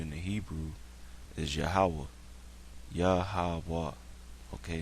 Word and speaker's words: Yahweh: That's how you pronounce it, Yahweh.